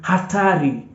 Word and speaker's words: hatari: so hella meaning money the other word that starts with the alphabet H is going to be hatari hatari hatari so hatari means danger so when you hear Atari it means danger all right Atari danger and